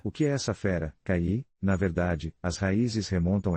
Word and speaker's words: Kaiyi: A propósito, os conhecedores de chinês dizem que ele é pronunciado como KI, mas, de alguma forma, acho que na Rússia o simples e descomplicado KI criará raízes.